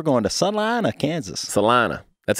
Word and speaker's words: Salina: Kansas Kansas we're going to Sunline a Kansas Salina that's how you say it right Salina Salina I've been corrected a few times yeah people you say Selena Selena so it looks well in some places